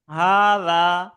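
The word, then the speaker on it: هٰذا: কিছু নোট দেওয়া আছে বলছে হাজা প্রোনাউন্সড হাজা এই হার পর একটা খাড়া আলিফ আছে সেটাকে আমাদেরকে লিখার সময় লিখি না কিন্তু উচ্চারণ করতে হবে হাট ইট রিটেন উইদাউট দা ফার্স্ট আলিফ এটা লিখা হয় ফাস্ট আলিফ ছাড়াই দ্বিতীয় নাম্বার এরাবিক হ্যাজ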